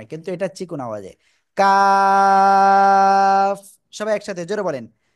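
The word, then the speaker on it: كاف: অক্ষরটা দেখেন দুইটাই কিন্তু প্রায় কাছাকাছি জায়গা থেকে উচ্চারণ কিন্তু এটা চিকন আওয়াজে কাফ সবাই একসাথে জোরে বলেন কাফ জোরে জোরে বলেন জোরে জোরে আল্লাহ আল্লাহ আকবার কাফ কাফ ওকে তো আমরা কিন্তু এটা ক্লিয়ার হয়ে গেছি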